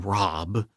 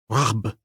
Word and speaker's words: Rob: The aspiration just before the B in Rob was very strong, close to the ch in the Scots loch. The A was halfway in pronunciation between the English A and O.